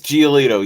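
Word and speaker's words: Giolito: waivers Tuesday including Lucas um Gio geoo Lucas geito yes that's how you pronounce it uh relievers Matt Moore and Renardo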